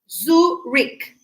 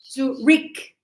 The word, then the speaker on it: Zurich: Zurich. I know it looks like ch, but we do not pronounce ch. Zurich, like K.